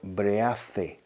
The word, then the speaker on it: breathe: And it's spelled breathe, con E al final. The pronunciation is breathe, TH vibrada, breathe.